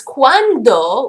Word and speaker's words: cuando: And be careful on the pronunciation because cuando with a D, right, can maybe sound kind of similar to cuánto with a T.